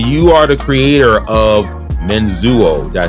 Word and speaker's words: Menzuo: It's spelled the way it sounds.